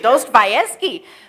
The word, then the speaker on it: Dostoevsky: Russian novelist Fyodor, I can't even pronounce the last name, I'm going to try, Dostoevsky? Thank you. Dostoevsky made a dramatic claim in his book, The Idiot.